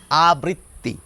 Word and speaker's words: আবৃত্তি: এই শব্দটি হয়ে গেল আবৃত্তি। তাহলে সহজে কিন্তু আবৃত্তি উচ্চারণ করা সম্ভব।